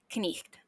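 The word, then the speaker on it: cniht: not a d so this is pronounced like k n which brings us to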